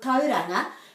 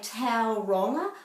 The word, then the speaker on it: Tauranga: maori so for example with tauranga people often say taoronga or tauronga but this is an ah sound not an o and then in fitianga